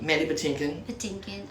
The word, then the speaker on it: Mandy Patinkin: i love her robin she's great buttercup and mandy pettinkin is that how you pronounce it yeah there's manny patinkin um well sean so many great great actors